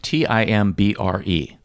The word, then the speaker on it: timbre: And it's spelled Timbre. Bingo. And you pronounced it timbre. Timbre.